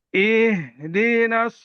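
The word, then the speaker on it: اهْدِنَا: Coba diulang. Ihnya kurang rokhwah. I- Ihdinas siratal mustaqim.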